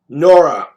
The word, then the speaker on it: Nora: Nora. Rhymes with Laura, okay.